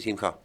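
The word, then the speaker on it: שמחה: Le digo, no se dice Chimja, se dice Simja.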